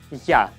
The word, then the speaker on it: Я: It's like yeah.